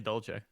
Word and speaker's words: dolce: the same yes dad who told me it was dolce i'm so sorry well in italian it is because they spell it d-o-l-c-e okay my my dad